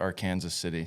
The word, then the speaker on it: Arkansas City: Yep, Arkansas City, but we pronounce it Arkansas City.